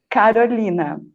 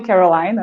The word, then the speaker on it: Carolina: yes you can say in portuguese my my name is uh pronounced carolina but you can call me you can call me caroline or you can call me carolina it's fine well i